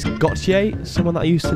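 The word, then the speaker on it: Gotye: It's Gautier, someone that I used to know.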